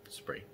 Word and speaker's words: Spree: And looking for somewhere to try and help pronounce it online, it is pronounced exactly as it reads in English, Spree.